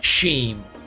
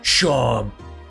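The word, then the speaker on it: Seam: Name's Sheen. It's pronounced Sham.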